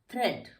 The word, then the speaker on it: thread: तो ये थ्रेड है, इसको हम यहाँ पे हमारा ए साइलेंट हो जाता है। थ्रेड, थ्रेड।